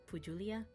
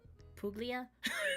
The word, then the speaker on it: Puglia: Oreteima was a local favorite in Pulia. Puglia. Don't know how to pronounce anything.